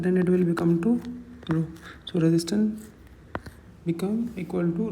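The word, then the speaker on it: ρ: This is we write it as we pronounce it as row and this is known as resistivity.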